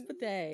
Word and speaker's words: bidet: Can't even pronounce the T at the end of the word. Are you supposed to say bidet? No, it's bidet.